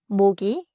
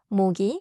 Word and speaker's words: 모기: Small pronounciation catch. 모기 and are different. 모기 starts with음.